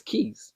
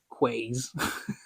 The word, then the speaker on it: quays: sorry I think that's keys I think that's how you pronounce it not quays my bad guys I